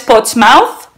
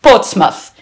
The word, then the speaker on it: Portsmouth: iris pero con todos mis respetos no es potsmouth spots más coches más puntos más se pronuncia con el sonido sua ahora lo pondré aquí abajo portsmouth pero no es potsmouth ahora en un rato